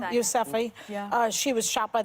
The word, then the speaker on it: Yousafzai: Yousafzai.